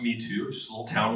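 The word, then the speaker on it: Mitú: So it's pronounced Mitu, which is a little town along the river airstrip.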